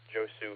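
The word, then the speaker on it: Josue: background hi Nick good to hear you uh Joe Sue here for those who don't know my full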